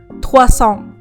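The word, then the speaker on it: trois cents: ภาษา ฝรั่งเศส มัน คือ ทัวซอง ทัวซอง ตอน เขียน เนี่ย มัน จะ มี s แต่ ว่า s ตรง นี้ เนี่ย มัน จะ ไม่ ออก เสียง เวลา อ่าน แล้ว เลข หลัก ถัด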